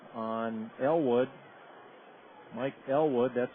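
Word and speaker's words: Eylward: Mike Elwood, that's spelled E-Y-L-W-A-R-D.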